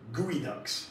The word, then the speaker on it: geoduck: and today they're called gooey Ducks it's spelled geoduck but it's pronounced gooey duck these things live like